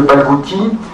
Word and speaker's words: Balkouti: À ma droite, Monsieur Balkouti, je prononce bien? Très bien. Qui lui est tunisien, ici. Pardon? Les deux. Franco-tunisien. Eh bien, bienvenue parmi les citoyens du monde. Et Monsieur Balkouti est ingénieur en génie